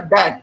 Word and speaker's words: debt: DEBT, और इसका उच्चारण होता है डेट।